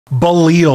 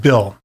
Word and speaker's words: Bill: Now, let's say they pronounced it Balil or something like that. I would say, actually, it's pronounced Bill. You know, just one syllable, Bill.